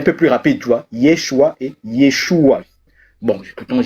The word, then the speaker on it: Yeshua: Josué, ça veut dire, quand on le prononce dans la langue originelle du Mashiach, donc de Jésus, c'est Yeshua. Tu as vu? Écoute, Yeshua. Maintenant, lorsqu'on veut prononcer Jésus, c'est Yeshua.